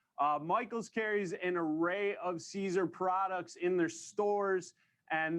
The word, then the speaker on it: Siser: past, the first lesson is how to properly pronounce Siser. So say it with me, Siser. That's right, you did it, congratulations. Tell your friends, let us know that is not Siser, Siser, Siser, all the other versions.